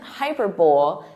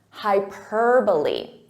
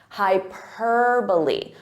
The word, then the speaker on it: hyperbole: pronunciation from the spelling so this isn't hyperb it's hyperbole hyperbole so listen to that syllable stress hyperbole now your turn